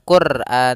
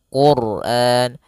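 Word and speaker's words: القرآن: Apabila ada huruf ro sukun didahulukan dengan dua huruf yang berharakat damah dan fathah, maka dia akan dibaca dengan tebal. Bukan Quran tapi Quran.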